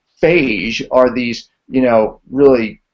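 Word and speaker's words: phage: and we talked about FJ or fase actually it's pronounced fagee are these you know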